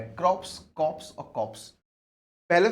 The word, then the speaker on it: corps: क्रॉप्स, कॉप्स और कॉप्स। पहले तो देखो प्रोनाउंसिएशन, इसका बोलेंगे क्रॉप्स, इसे बोलेंगे कोर, CORPS।